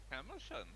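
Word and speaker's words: Calimshan: Kalimshan.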